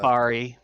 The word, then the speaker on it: Bari: Bari. Bari? B-A-R-I. Okay. Mari. Yeah, like Mari. Yep, like Mari but Bari.